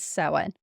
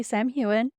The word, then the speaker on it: Samhain: I did the recap, I did say Samhain because it is Samhain. Um, my pronunciation might be a slight off depending on what part of Ireland you're from and everything. Um, the audiobook does say Sam Hewen, and if that's the